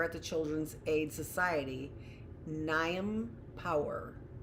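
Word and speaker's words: Niamh: Inside the coat is my name, embroidered by a volunteer at the Children's Aid Society, Niam Power. Yes, Niam. Oh, pronounced Neve. A common enough name in County Galway, and not so unusual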